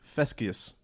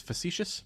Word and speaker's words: facetious: I'm being fescious. Is that how it's pronounced? Fescious? Fescus? Fescious? What does that mean? I think it's facetious.